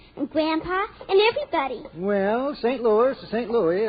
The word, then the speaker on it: St. Louis: Why, she's the strongest horse in St. Louis. Excuse me, Mr. Costello, but it's pronounced St. Louis.